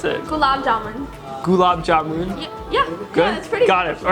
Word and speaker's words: gulab jamun: want to try to say cuz I probably mispronounce it julab jabin that's terrible how do you pronounce it Gab gulab jamun yeah pretty got it all right so let's